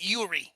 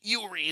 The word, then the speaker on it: Yori: just so you know in the hedum we pronounce it Yuri Yuri is how we say it holy [